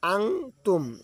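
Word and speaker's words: أنتم: যেমন আং তুম, এখানে আন বলা যাবে না, এখানে বলতে হবে যে বাংলায় লিখিয়ে দিয়েছে আং তুম।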